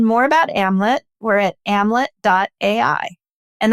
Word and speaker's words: Amlet: Or if you want to learn more about Amlet, we're at amlet.ai and that's amlet rhyming with Hamlet. So Hamlet without the H.